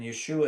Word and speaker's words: Yeshua: And Yeshua is actually the correct Aramaic pronunciation of his name.